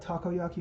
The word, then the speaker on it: takoyaki: is being the uh takoyaki I I don't know if I'm pronouncing that one right you got it takoyaki man yeah takoyaki is